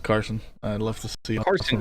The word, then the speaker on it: Carson: Arson Quapple. I said it right. I almost didn't, but I said it right. Carson. Isn't it Carson or is it Arson? It's Carson.